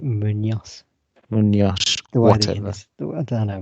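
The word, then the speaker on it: Muñoz: Yes, so 18-year-old striker Santiago Munez made his first start for the club to face Monterrey. This is the only clue because the surname you actually pronounce it Munoz.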